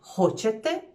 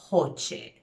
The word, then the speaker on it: hoće: On hoće, it's quick and short, and oni hoće, you sort of extend the E at the end.